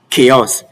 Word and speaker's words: chaos: It's not far-fetched that it is option C, chaos.